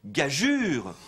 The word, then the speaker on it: gageure: a fait le substantif gageure, qui signifie pari, défi. Il faut donc bien prononcer gageure. Et l'on pourrait ajouter un tréma au U d'ailleurs pour indiquer la bonne prononciation.